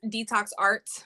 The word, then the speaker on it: DTXR: And it's pronounced Detox Art. That is my business, but it reads DTXR.